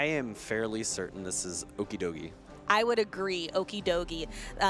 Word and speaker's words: Okidogi: How do you think this is pronounced? I am fairly certain this is Okidogi.